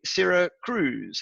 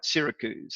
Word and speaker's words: Syracuse: as Diane well knows I used to say Sarah Cruise until she corrected misty I was all over that until she got got me pronouncing it right Syracuse so good on your door hand thanks very